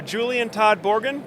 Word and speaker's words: Julian Todd-Borden: got another special guest for you here uh Julian Todd borgan did I pronounce that right you did yeah all right